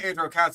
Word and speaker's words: Aegirocassis: I mean, like, say Aegirocassis because that's how it's pronounced.